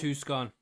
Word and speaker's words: Tucson: Pronounced Tucson. I stand corrected. Tucson. I know, right? Tucson. I don't know what it is either. It's Tucson. It is Tucson. Tucson. But it's Tucson. I know. It's weird.